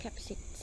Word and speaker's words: Kaapzicht: I don't know how to pronounce Kaapzicht. Correct? Kaapzicht. Kaapzicht.